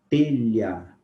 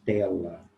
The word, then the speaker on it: telha: Telha. Nós pronunciamos o H? Não. Nós não falamos tela, mas nós falamos um outro fonema, telha. Então, esse fonema, diferente do